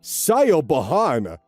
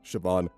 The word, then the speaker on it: Siobhan: cause her teachers to call her Sayo Bahan. Not at all how you pronounce it.